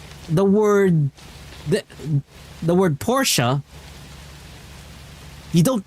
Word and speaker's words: Porsche: It's not poor she. Okay?